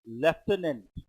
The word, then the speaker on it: lieutenant: Lieutenant. F sound is a lieutenant. But in the spelling you don't have the letter.